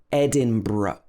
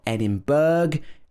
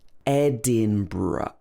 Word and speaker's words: Edinburgh: well so it's actually edinburgh ed din bruh so it's actually bro at the end and then the schwa it's not edinburgh edinburgh or anything like that it should be edinburgh or you can pronounce